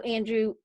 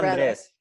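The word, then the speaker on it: Andrés: Andres. He should have said Andres. Andres. So, Andres. well, gotta roll your R.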